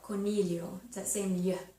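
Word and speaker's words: coniglio: uh bunny rabbit is Cornelio c-o-n-i-g-l-i-o Cornelio sound okay so it's not a gla it's a yeah like million okay and number four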